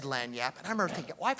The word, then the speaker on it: lagniappe: lanap now I didn't even know how to pronounce the word and he said lanap and I remember thinking I've heard that word